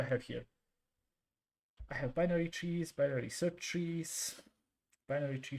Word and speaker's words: trie: first of all how do you say a tree three how is this set am I saying it correctly try how you say this how to pronounce let's